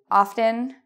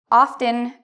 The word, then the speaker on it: often: You can say it with or without, depending on where you're from. So the main thing I want to say in this video is often, often, are both okay.